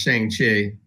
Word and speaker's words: Shang-Chi: He says Shang, like bang.